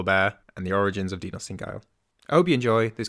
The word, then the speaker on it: Dinossindgeil: And thankfully, you've just tutored me on the correct way to say your name, which is Dinossindgeil.